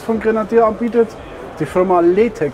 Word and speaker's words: LeTech: Die Firma Letech, ist das richtig ausgesprochen? Genau, Letech, ja.